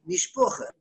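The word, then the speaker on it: מִשְׁפָּחָה: How do you say it in Yiddish? You don't say Mishpacha, what do you say? Mishpucha, right? There's a difference. Mishpucha, right? Mishpacha, Mishpucha, right? And so it's still Hebrew, but there's a different accent on the syllable.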